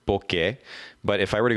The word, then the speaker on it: Bokeh: it's be okay eh book a podcast calm and by the way for all those who you're like oak that's now how you pronounce it it is originally actually a Japanese word bouquet but if I were